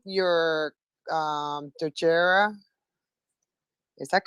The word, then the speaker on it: Dogira: So first, this is horrible, but am I pronouncing your Dojera? Is that correct? Did I pronounce it correctly? Yes, that's correct. It's Dojira.